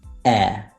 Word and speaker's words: heir: except for four cases there are only four words in which the age is silent and obviously that the words that are either compound or that come from these words and they are our honor honest heir and a good way